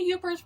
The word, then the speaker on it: Yooper: I think the Yoopers won out on that one. Yooper doesn't sound so bad, and it's more a play on their Upper Peninsula. Yooper, upper, and their accent.